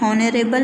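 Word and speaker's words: honourable: हवर नहीं पढ़ेंगे, हम इसको आवर पढ़ेंगे, एच साइलेंट होगा हमारा। यहाँ भी हम ऑनरेबल नहीं पढ़ेंगे, ऑनरेबल पढ़ेंगे।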